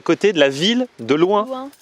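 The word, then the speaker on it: Luins: Il fait, si, parce qu'en fait, c'est à côté de la ville de Loin. Mais ça s'écrit comment? L-U-I-N-S. L-U-I-N-S. Et ça se prononce loin.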